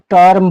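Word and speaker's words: term: यहां भी देखिए ई के बाद आर है। तो इस वर्ड को हम टर्म पढ़ेंगे। इस वर्ड को हम टर्म पढ़ेंगे। हमने क्या बताए हैं? इसमें जहांजहां इ है उसको ए का उच्चारण नहीं देना है। अ को उच्चारण देना है। ठीक है? एक को उच्चारण देने पर गलत होगा। अ को उच्चारण पड़ेगा इसमें।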